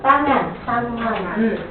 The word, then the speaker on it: tangan: Tangan. Tangan. Remember, we don't change the vowel.